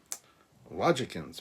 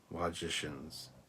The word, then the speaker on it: logicians: and and heavy breathing logic ends pronounced like magicians magicians logicians logicians that's better like magician but logic instead of magic my dogs have woken